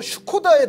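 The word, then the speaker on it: Škoda: 라고 묻는다면 본 발음은 뭐 슈코다에 더 가깝다고 하는데 슈코다라는 자동차 브랜드를 가장 먼저 얘기할 가능성이 높다고 합니다.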